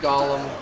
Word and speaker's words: golem: with his five flesh Golems and yes I still say Golem even though I've heard it in games pronounced Gollum I remember a story